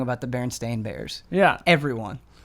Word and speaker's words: Berenstain: again and see if they just say it Berenstein Bears, even though it's pronounced or spelled Stain. Well, it's the accents. It's because somebody sent us a link, and it does sound like they're saying Berenstain Bears.